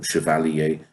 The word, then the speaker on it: chevalier: of my chef alia it could be Chevalier but surely a probably because he's used the word here before so that is a probably how it was supposed to be pronounced to rhyme with air maybe obviously a Chevalier